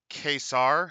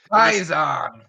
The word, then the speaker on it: Caesar: I want to call it Caesar, but that's not how they ever used that C. Yeah, well, it's how we pronounce it, so fuck them. Kaiser.